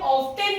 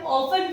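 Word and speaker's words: often: इसे भी हम ऑफ्टन नहीं कहते हैं, इसे हम ऑफन कहते हैं क्योंकि टी साइलेंट हो जाता है।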